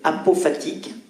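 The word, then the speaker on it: apophatique: la personne humaine alors un pot fatigue ça s'écrit a P o P H a t I Q u e apopatique il faut préciser qu'une démarche dite à prophète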